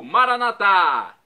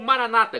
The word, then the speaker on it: Maranatá: Agora eu clamo do aramaico Maranatá, como dizemos nós católicos, ou Maranata, como dizem nossos irmãos separados, os evangélicos ou protestantes. Não importa a pronúncia, o significado é o mesmo.